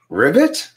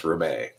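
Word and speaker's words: Ribet: of the fact that their name makes people say, Ribbit? but it's pronounced Rebay. Just like ballet has a T at the end of it, but it's, the sound at the end of it is A, so too with Rebay.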